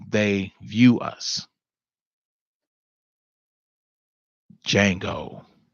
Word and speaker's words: Django: how they view us Django the D is silent this is how we